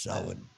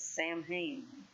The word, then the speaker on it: Samhain: Yeah, but it's Samhain is how it's pronounced. See, I didn't know that. I always thought it was Samhain.